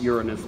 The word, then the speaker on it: Uranus: Yes, I really pronounce it Uranus most of the time, but one does have to joke occasionally.